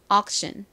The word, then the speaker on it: auction: 그래서 이 단어를 한국식으로는 옥션이라고 쓰고 미국식 발음으로는 옥보다는 억에 가깝게 소리가 나죠. 이렇게요. auction, auction.